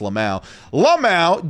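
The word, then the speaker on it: LMAO: Randy Orton tweeting, Lamau, again, even in this news series, I'm telling you, it's pronounced Lamau, just milking it, guys.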